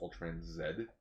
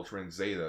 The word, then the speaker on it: Ultraman Z: Okay, so according to my sister, it will be pronounced Ultraman Z. Okay, yeah. So, the Canadian version way of saying letter Z. Because at first I was like, oh, Ultraman Zeta.